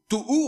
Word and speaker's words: tohu: Tohu, on prononce tohu.